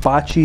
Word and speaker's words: Bachi: I have to pronounce it like Bachi as in hibachi, like those Japanese restaurants where you cook in front of...